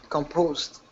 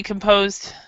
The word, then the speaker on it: composed: and what about composed composed yeah see composed composed composed is the same way the composed actually sounds kind of like a t sound so the E is not pronounced and the d uh